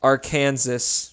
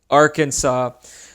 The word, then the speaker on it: Arkansas: get started first is Aransas oh wait that's not how it's pronounced Arkansas sorry I guess the